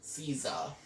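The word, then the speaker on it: SZA: bill by s z but it's actually pronounced Caesar but most people calls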